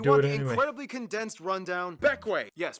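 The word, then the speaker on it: Bequia: but if you want the incredibly condensed rundown beckway yes pronounced beckway it is the largest and most populated grenadine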